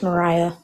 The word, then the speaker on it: Mariah: don't have like wait Maria what's offensive towards a white person it's Mariah I apologize so that was offensive to me I'm sorry I mispronounced your name wait what has H at the end how did you mispronounce